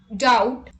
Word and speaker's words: doubt: thumb rule number two b is usually not pronounced before t at the end of a root word let's look at the example depth depth doubtful doubt subtle subtleness etc let's